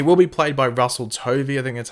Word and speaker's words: Tovey: the Ray he will be played by Russell Tovey er that's how you pronounce the actors name and you can see